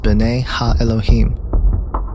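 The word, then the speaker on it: בני האלהים: The sons of God mentioned here in the Hebrew is pronounced B'nai Ha-Elohim.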